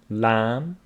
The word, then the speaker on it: lamb: like WR writer wrist B after m is not pronounced Thum lamb Lim we talked about